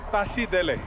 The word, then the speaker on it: Tashi Delek: it's the morning afternoon or evening you say Tashi Delek Tashi Delek Tashi Delek seat delay okay and what does